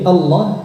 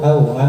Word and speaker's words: Allah: cuma lidah gerak Lailahaillallah jadi Allah usahakan jangan gerakkan bibir Jangan nutup bibirnya a au auah muncul wau di situ nah ini hati-hati Jadi jangan sampai muncul huruf wau dalam pengucapan lafaz Allah bukan menjadi lafaz jalalah